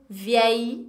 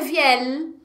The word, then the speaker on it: vieille: Vieille. Vieille. Ok? Não é vielle. Não pronuncia o L, tá, gente? É vieille.